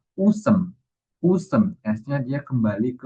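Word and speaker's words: 웃음: Jadi bukan ut em, tapi S-nya ini naik ke bagian yang di sini. Jadi di sini bacanya usem.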